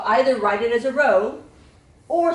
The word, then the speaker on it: rho: okay so up and say row like row your boat it is spelled r h o row you can spell